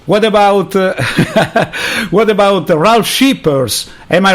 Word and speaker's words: Scheepers: What about what about RALF SCHEEPERS? Am I right with the pronunciation? RALF SCHEEPERS, that's great. Okay. Yeah, Scheepers, the double E is always in English, an E.